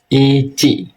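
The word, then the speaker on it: いち: Ici. Nah, jangan ada huruf K di belakang ya. Jadi i ci jangan ada k ya ici. Jadi cukup ic aja ici.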